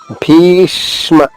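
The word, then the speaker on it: भीष्म: భీష్మ మహాప్రాణి భీ దీర్ఘంగా పలికిన తర్వాత ష్మాలోని షాద్విత్వం చేసుకుంటూ, అంటే 2 షాలు 2వ లైన్లో ఉంటుంది.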